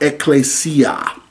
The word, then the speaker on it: ecclesia: It's pronounced ecclesia and it means a calling out that is